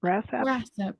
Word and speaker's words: WRASAP: What is the best way to stay current with news from, and is it pronounced WRASAP? WRASAP, yes.